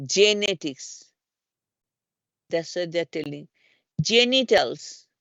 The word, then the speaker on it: genetics: for pronounce this J when the G comes before e i and I say example genetics so call the J actually we call the genetics it doesn't say the genetics right we don't say G